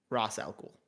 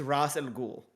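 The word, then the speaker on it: Ra's al Ghul: race in the game it's supposed to be Ross Ross alcohol no one ever pronounces it the same way uh no one ever pronounces it the same way and so I don't know what the Canon is his name is Arabic for head of the demon it's Ross and ghoul so the other reason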